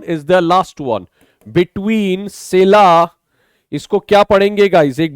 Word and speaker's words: Scylla: Next one is the last one, between सेला. इसको क्या पढ़ेंगे गाइस, एक बार देख लीजिए, इसका प्रोनाउंसिएशन बहुत मुश्किल है.